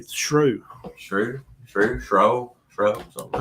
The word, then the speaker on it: Shough: It's like through, but with an S. It'll be Shrew.